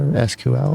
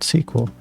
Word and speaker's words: SQL: You can pronounce it speaking each letter SQL or pronounce it using the word SQL.